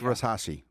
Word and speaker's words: Versace: When she flew into Naples, she got off of her private jet with a Versace outfit on with No, it's it's pronounced it's pronounced Versace.